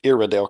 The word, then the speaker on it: Iredell: Um or as everybody likes to pronounce it, Iridel County.